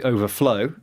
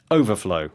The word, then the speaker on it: overflow: it as a verb first NE uh to overflow very good stress on the SEC uh the final syllable uhhuh and when it's a noun overflow with the stress on there first syllable very